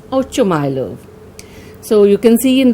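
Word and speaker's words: Ochumelov: Now this is a Russian name and the pronunciation can vary. Some call this Ochumylov or Oshumylov. I'll be pronouncing it as Ochumylov.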